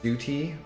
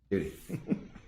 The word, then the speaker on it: duty: We don't have that problem because we pronounce the T in duty. Yeah, but I mean, you just say it a little more quickly. Duty.